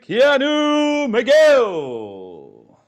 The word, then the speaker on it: Keanu McGill: My name is Owen and today we are here with Keanu Miguel. If I pronounce that correctly, sir, welcome. You got it.